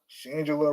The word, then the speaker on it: Shangela: Shangela rhymes with Angela.